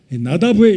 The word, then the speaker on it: 나답: 나답, 히브리 발음으로 나다브의 이름의 뜻은 자원하여 드리는 사람, 자원하여 드리는 예물이라는 이름을 가지고 있습니다.